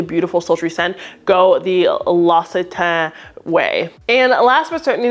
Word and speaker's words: L'Occitane: And they said, you can either pronounce it the American way or the French way. So the French way, which I did, or the American way, L'Occitane. That's how they say it in America.